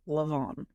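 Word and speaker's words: Leamaneh: You can just type in Leamanah Castle, and it is an Irish word. So let me spell that for you. It is Leamenah. It is pronounced Leamanah.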